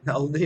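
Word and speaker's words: Olney: now lives in uh only maryland is that how you pronounce it only indeed and let me find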